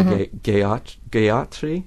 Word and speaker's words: Gayatri: Well, you can look up one mantra I would recommend looking up is the Gayatri mantra, which is spelled G-A-Y, like happy, like the old gay meant happy.